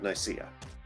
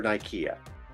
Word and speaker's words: Nicaea: And to this day, I still wish the Monophysites had won the First Council of Nicaea. Or Nicaea. I've heard it pronounced both ways.